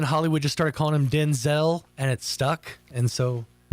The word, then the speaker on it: Denzel: that Denzel Washington that we've been saying his name wrong this whole time? Oh, yeah. Yeah. What is it? Denzel. Denzel. Denzel. Like Vin Diesel.